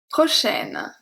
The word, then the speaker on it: prochaine: Here the pronunciation is very different, because prochain, A-I-N, make the sound un, while prochaine, because we pronounce the N, because the E give its power back, the A-I is pronounced E, so we have prochaine, prochain, prochaine, okay?